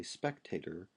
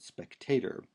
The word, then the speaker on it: spectator: the Latin accent so we don't say spectator but spectator okay because this vowel is long in Latin you would pronounce a long vowel in this position um that's called um